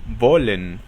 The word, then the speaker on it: wollen: La letra W se pronuncia como una V inglesa, es decir, se juntan los dientes superiores con los labios inferiores y se crea el sonido de V.